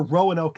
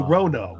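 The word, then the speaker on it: Roanoke: H there my gut feel is it's an accent thing and that they don't hear Rowanoke is incorrect. They hear it as that's how Yankees pronounce it. But they go Rono.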